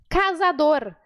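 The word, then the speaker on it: cazador: assim ali descasador casador a letra z no espanhol ela sempre tem som de s para simplificar a sua vida Caçador Ok então sempre que você vê viu a letra z é som de s tá esse som da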